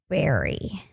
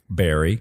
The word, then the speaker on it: Burry: and it's about Michael Barry Barry well it's spelled b r r y but as I remember it being pronounced it was Barry Michael burry yeah that's I'm not